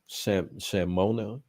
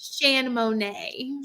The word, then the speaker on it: Shan Monet: Shamona? Is that how you pronounce it? Shan Monet. Shan Monet. Monet is my middle name.